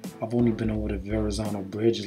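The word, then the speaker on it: Verrazzano: if you're an esl student you will probably pronounce it probably for esl but anyway it was verrazano verrazano already say with me the verrazano i went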